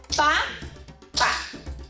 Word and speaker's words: papa: It looks like papá, except that it doesn't have an accent.